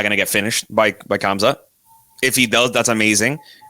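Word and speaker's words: Khamzat: are, we're talking about Kazma, or why do I say his name wrong every time? Kamza. I forget what the M.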